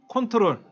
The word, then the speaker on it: Ctrl: 가면 ctrl이라고 있죠 ctrl ctrl 뭐라고 읽는다 컨트롤 ctrl이라고 있는데 이거는 이제 뭐라고 하냐면 컨트롤이라고 읽어요 컨트롤 그다음에 alt고 있죠 alt